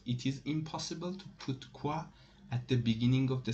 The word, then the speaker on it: quoi: types of question words one of them is qua it is pronounced and it is and the meaning is